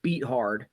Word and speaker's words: Beathard: And by the way, it's pronounced CJ Beathard, because that's how it's spelled.